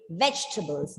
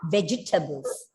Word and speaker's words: vegetables: 3. It's not 4. Okay. 3 syllables. It's not vegetables. No, it's wrong. It's not vegetables. You are just bringing a single sound there.